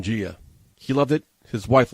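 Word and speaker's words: Jia: They decided to name this beautiful baby girl Gia. But they spelled it J-I-A. Jaya? So whenever they went to the doctor would always mispronounce her name. Commonly, I don't blame them, calling her Jaya.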